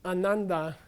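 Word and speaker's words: आनन्द: yeah yeah yeah an ananda means the person who's unhappy means uh the person who's extremely happy an initial long a means very much an initial short a means not at all so when they say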